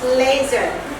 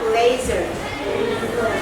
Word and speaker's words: laser: Laser. Coba dibaca laser. Pakai Z. Tulisannya S, dibacanya bunyinya yang keluar tuh Z ya. Laser.